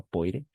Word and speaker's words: poire: O-I, no olviden, es wa. Siempre va a ser wa.